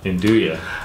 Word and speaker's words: 'Nduja: d ug Wow NZ u J and dooya induye and it's basically a spreadable salami it's got